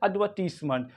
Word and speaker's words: advertise: क्या पढ़ेंगे एडवर्टाइजमेंट और अमेरिकन इंग्लिश में लेकिन थोड़ा सा अलग पढ़ा जाता है ये वर्ड एडवर्टाइज क्या पढ़ेंगे लेकिन ये जो आर है इसको प्रोनाउंस करना होगा एड एडवर्टाइज एडवर्टाइज एडवर्टाइज American English एडवर्टाइज okay I hope it